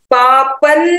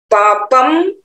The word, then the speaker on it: पापं: पापं नाशयति, पापम नहीं बोलेंगे क्योंकि अनुस्वार के बाद ना का उच्चारण आ रहा है।